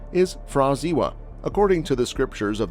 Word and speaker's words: Pra Ziwa: The pronunciation of this name is Fraziwa.